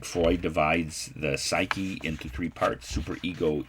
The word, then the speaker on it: psyche: the word greek word for soul is it's pronounced in english psyche and psychology is literally what you find in